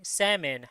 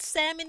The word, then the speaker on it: salmon: The word originally came from French where it was spelled somo and pronounced without an L because there's no L.